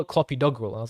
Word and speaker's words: clopidogrel: And then like clopidogrel, that's another one.